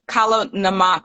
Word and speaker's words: Kala namak: Kala namak.